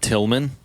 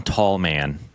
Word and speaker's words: Tallman: Tillman. And then you pronounce John's name wrong though. It's John Tallman. No, that's it's what not I say. Man, it's Tallman.